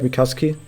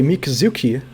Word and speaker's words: Mikazuki: You kind of have to swallow that last EU. It's like Mikazuki. But a lot of people say Mikazuki, and yeah, Mikazuki sounds dookie.